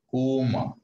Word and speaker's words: comb: Okay, you should not call it comb. B is silent. Comb, comb. T-O-M-B, tomb. L-A-M-B, lamb, not lamb. Okay, B is silent in all these words.